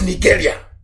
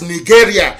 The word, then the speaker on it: Nigeria: Unless Nigeria ceases to exist. As long as Nigeria, that's the proper pronunciation, not Nigeria is the phone, Nigeria. It sounds a bit, okay. The proper name is Niger area, Nigeria.